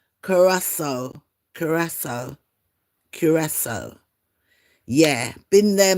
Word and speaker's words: Curaçao: Because I say it how you see it and that is not how you pronounce it.